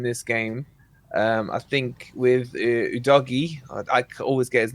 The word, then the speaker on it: Udogie: I think with Udogie, I always get his name. Is that how you meant to pronounce it?